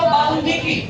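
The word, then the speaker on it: বাল্মীকি: বাল্মিকি যদি ল এর সঙ্গে ম এর কোন একটা যুক্ত বর্ণ থাকে তাহলে সেক্ষেত্রে উচ্চারণ নীতি অনুযায়ী এই ম টা এবং ল টা উচ্চারণ গ্রহ থাকবে তাহলে উচ্চারণ কি হবে বলতো বালকি বালকি মহাভারতের লেখক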